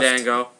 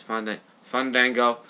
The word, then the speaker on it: Fandango: Fango. No, it's Fun Vango.